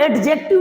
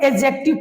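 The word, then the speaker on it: adjective: लोग पढ़ेंगे एडजेक्टिव पढ़ेंगे अगर किसी वाक्य में जे से पहले डी होगा या जी से पहले डी होगा तो डी हमेशा साइलेंट रहता है इतनी बात समझ लीजिएगा कि जे और जी से पहले डी आता है तो डी क्या रहता है साइलेंट वर्ड रहता है इसलिए इसको हम लोग एडजेक्टिव कहते हैं एडजेक्टिव कहना गलत है ठीक है चलिए अब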